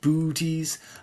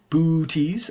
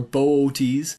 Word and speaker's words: Boötes: The thing is that you're meant to pronounce these two O's separately.